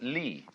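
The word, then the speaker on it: 理: universe which is this they pronounce it Lee now this sign has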